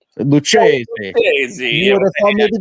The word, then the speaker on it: Lucchesi: I don't know how you say his name, but I think it's Lucchesi. Okay. But you got to say really Italian. Lucchesi.